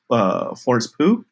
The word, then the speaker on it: Pugh: with her presence, and I think that's Florence Pugh. I don't know how to say it. I think it's Pugh. Florence Pugh.